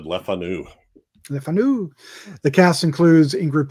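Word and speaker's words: Le Fanu: Yes actually I was hearing these British people pronounce it and they all said lefanu leanu the cast includes ingr pit pip of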